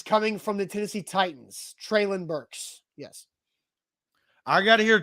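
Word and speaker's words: Treylon Burks: hasn't gotten that bad but yes the official pronunciation has he said this this is coming from the tennessee titans traelin burks yes i got to hear treylin say that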